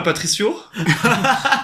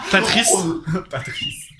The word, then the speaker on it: Patrice: prononce bien mon nom je dis pas Patricio Patrice merci à vous pour l'invitation